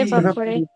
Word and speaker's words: evaporate: Okay, let me show you the way I have to pronounce this word, which is, evaporate, again, evaporate, so it is A, it's not E.